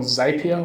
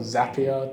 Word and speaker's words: Zapier: up with a program called zapier or zapier depending which country pronunciation you prefer what's it called